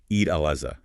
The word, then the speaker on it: al-Adha: You'll often hear it pronounced Alaza with a Z sound.